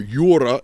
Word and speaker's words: Jura: And as he says, the Altissimi Montes, the highest mountains, the Jura, or Jura as we would pronounce it in the Latin, mountain range.